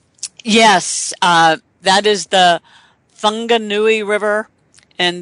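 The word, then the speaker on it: Whanganui: uh that is the fungi River and though I say it with an F it is spelled with a W and what what the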